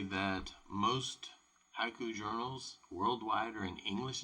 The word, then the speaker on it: haiku: Like haiku and it's going to bring up the word haiku, right? Right there. Haiku is ha-i-ku if it's written out.